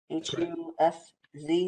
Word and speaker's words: Husz: and that is Husz. Is that how we say it? H-U-S-Z. Is that correct? Am I saying it right, Mr. Husz? Yeah, SZ, right? Okay, good.